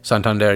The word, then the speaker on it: Santander: the U.S is that how you say it Santander yeah it's because it's a city in Spain